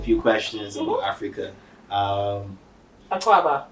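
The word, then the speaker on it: Akwaaba: Um, Aquaba, by the way. that's what it pronounced.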